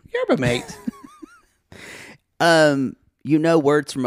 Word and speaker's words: yerba mate: saying and I finally you mean yerba mate I laughed oh my God y'all it's built m-a-t-e that's mate yerba mate um you know words